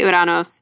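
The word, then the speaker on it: Ouranos: I say Uranos because as Percy correctly points out, there's no other way to say his name without it sounding silly.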